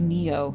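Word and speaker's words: Nioh: You guys told me I pronounced it wrong. It's Neo, right? And Nio speech, she pronounces it Nio as a joke, and I called it Nio originally, but then you guys corrected me and it's actually Neo.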